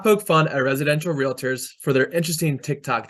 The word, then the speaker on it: Realtor: itself five we will pronounce it Realtors not real authors six we will use